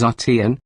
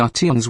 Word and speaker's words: Arteon: prefer, the engineering protophonetically, Volkswagen's new flagship is Arteon. Philosophically, it's ART plus 3 letters tagging along for the ride. Think of it as the RT1 and you'll mispronounce it but nail the idea.